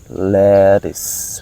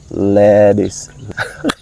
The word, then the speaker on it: lettuce: Lettuce. All right, the sound of tea, but with American pronunciation, the tea become D. That's why I say lettuce.